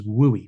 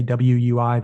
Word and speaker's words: WUI: is the acronym and that's usually how people say the acronym is wooy we don't say wui that's that's too hard to say it's too many syllables wooi is a flows